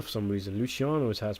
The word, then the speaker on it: Luciano: garcia playing luciano i didn't know that i'm pronouncing it wrong i only say luciano for some reason luciano is has pronounced as people have told me